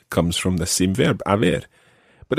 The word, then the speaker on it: haber: You use a different verb, and that different verb in Spanish is haber, and that's spelled Haber. Haber.